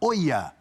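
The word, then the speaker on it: Olla: Bertozzi me corrigiu que eu falei Ola, ele falou não, é La Nueva Oia.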